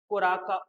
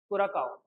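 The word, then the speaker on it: Curaçao: The country is कुराका, नहीं कुराकाओ, कुराकाओ will be the right pronunciation.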